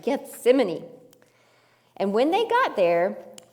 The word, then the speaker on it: Gethsemane: That's right, Gethsemane.